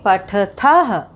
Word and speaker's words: पठथः: तो यहाँ पे उच्चारण करेंगे पठथः, लिखथः, धावथः, और यहाँ उच्चारण करेंगे पठथ, लिखथ, धावथ।